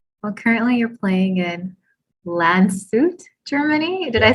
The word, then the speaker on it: Landshut: difference i think well currently you're playing in lan suit germany did i say it right you did